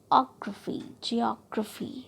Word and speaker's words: geography: Okay, geography, right? Geography. Skeletal. इस तरह से आपको प्रोनाउंस करना है.